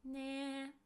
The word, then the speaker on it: ね: It's pronounced as ne.